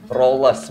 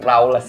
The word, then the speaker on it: Rawles: benar jadi dibacanyacet lagi dibacanya rollless bukan rawless ya teman masih salah salah